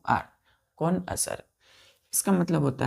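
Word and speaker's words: connoisseur: subject के क्या है कौन असर है आपको क्या बोला जाएगा कौन असर तो पढ़ेंगे बच्चों कौन असर लेकिन लिखेंगे इसका स्पेलिंग ध्यान दीजिएगा सी ओ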